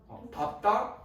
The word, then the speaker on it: 밟다: 자, 그 다음에 리을 비읍은 예외 3가지가 있죠. 다 리을 비읍은 리을로 발음 나지만 비읍으로 발음해야 되는 건 3가지. 밟다, 넙둥구다 4가지네요.